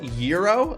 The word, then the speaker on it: gyro: Gyro. Gyro is pronounced yurro. Oh, it's not pronounced like the mechanical thing.